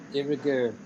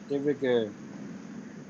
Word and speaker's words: de rigueur: De rigueur. How is pronounced, teacher? Sorry. De rigueur. De rigueur.